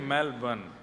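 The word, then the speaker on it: Melbourne: को जला दे मेलबर्न मैंने कहा नहीं मेलबर्न र जो है वो साइलेंट बोलो तो लेकिन हुआ क्या यहां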